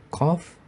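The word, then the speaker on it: قاف: Bunyi huruf qaf keluar dari pangkal lidah dekat dengan kerongkongan yang dihimpit ke langit-langit mulut bagian belakang. Qaf. Dan bunyi huruf kaf seperti huruf qaf, namun pangkal lidah diturunkan.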